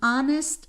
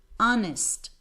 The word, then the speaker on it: honest: in give me an honest answer here you have a consonant but I see you need to use in because my H is silent so as you have